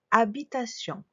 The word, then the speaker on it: habitation: Une habitation. Il y a un H muet au début.